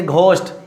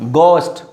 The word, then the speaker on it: ghost: But most of the students, they pronounce ghost. Don't say ghost, it's a ghost. Here is ghost, ghost, ghost. It's a ghost. not ghost.